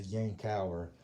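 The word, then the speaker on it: Yankauer: that i had from new jersey it's a yang tower but i guess maybe it's the southern roots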